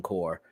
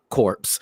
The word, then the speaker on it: Corps: So, okay, basically there was a huge war that happened before Green Lantern Corps. Corpse. Oh, you said it right the first time.